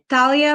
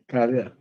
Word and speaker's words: Dalia: state your full name Talia vieta Silva Corona whoa okay I'll take a word for it I no how do you say your first name Dalia got it okay all